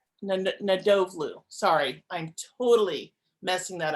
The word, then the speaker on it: Ndlovu: No, can you pronounce it for me? Ndlovu. Ndlovu.